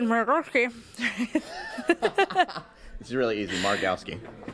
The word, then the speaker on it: Margowsky: with us David Mari this is really easy marowski marowski marowski okay don't read it just pronounce it you'll be fun um Dave is